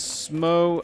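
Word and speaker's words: Smough: The community generally says Smo as though it rhymes with snow, but I don't think it's pronounced in game ever, so...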